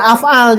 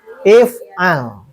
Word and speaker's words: if'al: Nah ini jangan af'al, jangan. Tapi if'al. Dari sananya.